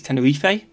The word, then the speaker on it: Tenerife: kind of like tenerife the spanish pronunciation of tenerife is tenurife yeah well it's like